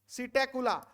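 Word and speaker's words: Psittacula: parrot parrot लिख लो parrot सीटे कुला पी साइलेंट है सीटे कुला एस आई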